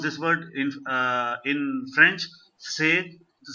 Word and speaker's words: c'est: This is say. This is same as the say, SAY in English.